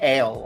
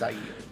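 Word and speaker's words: Aiel: I still want to say ale all the time, even though I know it's Ail.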